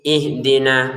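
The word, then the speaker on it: اهْدِنَا: Kalau di sini ihdina lah Pak kok beda, Pak? Kalau ini harakatnya fathah. Kalau ini harakatnya kasrah.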